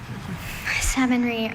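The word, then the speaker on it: savonnerie: Savonry. Are there any alternate pronunciations?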